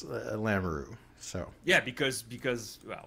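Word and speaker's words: Lamoureux: you pronounce her name uh lamaroo I know it's and maybe she like because but this is how it's pronounced that's that's how the family pronounces it because Kevin lamaroo is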